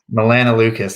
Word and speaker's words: melanoleucus: Melanoleucus, that's how you say it.